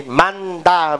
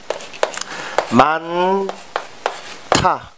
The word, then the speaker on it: 많다: Nếu mà cứ đọc theo từ vựng thì 많다, 많다 đúng không nào? Nhưng mà chúng ta phải đọc phát âm như thế này nhé. 많다. Ok. Các bạn chú ý nhé. Chờ, đọc theo theo nhé. 많다. 많다. Không phải 많다, 많다 nhé.